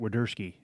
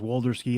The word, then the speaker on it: Wederski: It took me about three tries to get Wederski. I thought it was Walderski and everything.